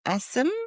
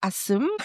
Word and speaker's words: Assam: So she was an Asim but in India it's pronounced Asim.